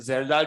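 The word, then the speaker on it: Kjeldahl: है पहला मेथड है जलाल मेथड य पर के है साइलेंट है जलाल मेथड रुको भाई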